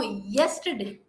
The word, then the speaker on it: yesterday: s Madame s Madam no it's not s it is yes there is a your sound here yes yesterday I was absent no yesterday yesterday okay yesterday yes